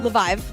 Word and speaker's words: Leviev: Leviev. Good for you. Damn. Write it out phonetically.